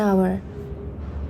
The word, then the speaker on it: hour: Just an hour. Bukan just a hour, karena kita bacanya bukan hour ya, jadi kita bacanya walaupun tulisannya hour tapi kita bacanya kan hour, kayak a gitu kan, jadi an hour gitu.